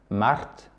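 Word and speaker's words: март: Mars, ça se dit Mart. Comme le prénom Marthe en français, d'accord? T-H-E à la fin en français. Sauf que vous roulez le R un petit peu.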